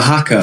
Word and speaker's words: haka: the haka.